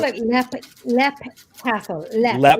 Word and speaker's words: Leap: I call it Lep Castle. Lep. Lep. Like Lep So is Castle. it actually spelt Leap? It's spelled Leap, but it's pronounced Lep Castle.